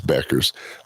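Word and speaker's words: Bueckers: I pronounce it Bucher, but uh but they they they say it's Beckers.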